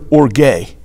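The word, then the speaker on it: ὀργή: The Greek word for wrath there is the word orge, O-R-G-E.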